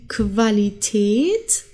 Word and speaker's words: Qualität: Julia der Januar jung dann haben wir qu und das wird zusammen wie kW ausgesprochen also die Quelle die Qualität und die Quantität okay